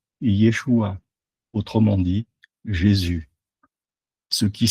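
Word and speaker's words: ישוע: Yod et shin vav et se prononce Yeshua, autrement dit Jésus, ce qui signifie littéralement sauveur.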